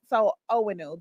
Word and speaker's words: Owenu: Owenu. The way I say it is you don't pronounce the first N. So it's O like, oh my God, win like you won a prize, new like new car.